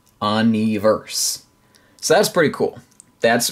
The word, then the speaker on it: UN2VERSE: It is Un2Verse. Un2Verse. So that's pretty cool. That's pretty cool. Apparently the two is like an E sound in Korean.